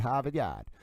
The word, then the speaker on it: Harvard: You got to say it like that. Havad.